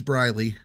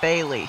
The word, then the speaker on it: Briley: time briley is here is it briley it is briley i can't see it that well i said bailey sorry oh it is